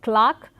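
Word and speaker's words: clerk: the diphthong A, and there are also certain words which have the letter E, but in terms of pronunciation the long A continues to be used. For example, it is Clark, Barclay and Berkshire, and in spite of these a few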